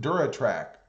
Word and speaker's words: DuraTrac: Thunder Whisper says it's pronounced Duratrack, Rob. It'll always be Duratec to me.